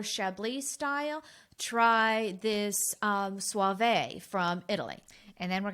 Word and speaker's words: Soave: about that because i when i looked up the pronunciation and i hope we're getting it right but it does have that suave it's s-o-a-v-e and i thought we would think about rico suave and that's how we